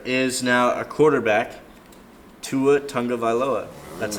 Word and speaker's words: Tagovailoa: Here is now a quarterback, Tua Tagovailoa.